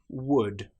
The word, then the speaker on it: would: For example, the word would, could, should. In these cases, again, the L is completely silent.